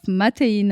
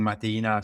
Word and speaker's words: Mateina: guest today is Nicola Bo the founder of mattin and he's going to tell us all about